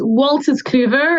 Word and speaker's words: Wolters Kluwer: of course of course it's wal's Clover is how you say it it's originally a